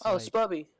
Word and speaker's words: Sbubby: It's SBUBBY and it's Spubby.